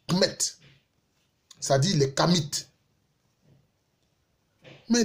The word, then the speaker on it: Kemet: Il s'appelait Kemet. Ça s'écrit K-M-T, Kemet.